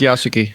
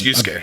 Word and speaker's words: Yasuke: Yeah, it's Yasuke. Yasuke? Okay, I thought it was Yusuke. I'm pretty sure that's correct. Pretty sure it's Yasuke.